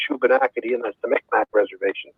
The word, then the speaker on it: Shubenacadie: I can't even begin to pronounce it. SHUBENACADIE. Yeah, the Shubenacadie Reserve.